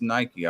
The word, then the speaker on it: Nike: It's pronounced Nike. I promise you. Promise you. Well, Promise you. It's as Nike.